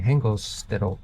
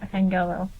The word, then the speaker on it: Hengelo: We are in Hengelsted. Is that how you pronounce it? No, Hengelo. Hengelo.